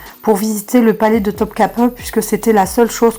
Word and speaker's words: Topkapı: magnifiques et qui n'existent qu'à Topkapi en fait. Donc, ou Topkapı plutôt, bien prononcé.